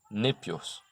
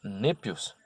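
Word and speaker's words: νήπιος: concerne o termo criança, népios, que ele não se refere aos tolos. Quando dizemos népios, é a doçura que desejamos exprimir. Népios é composto das sílabas ne e épios, que quer dizer doce.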